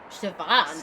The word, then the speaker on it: Siobhan: Siobhan, that's how you pronounce it.